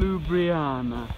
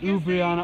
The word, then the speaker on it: Ljubljana: And, Ljubljana. I don't know if they pronounce the L. Actually, Ljubljana. Oh yeah, that's right. The J. That's right. No, the J. The J. Yeah. The J, yeah. Sorry. Ljubljana.